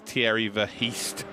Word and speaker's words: Thierry Verheest: Yes, I've been told how to say it properly. Yes, I know. I felt like a child being told off, but it's Thierry Verheest.